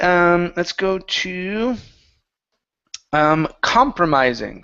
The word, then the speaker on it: compromising: let's go to um compromising so the stress is at the very beginning a compromising position a compromising position